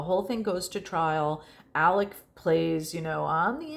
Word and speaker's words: Alex: And by the way, his name is spelled Alex, but for whatever reason, he likes to say it Alec.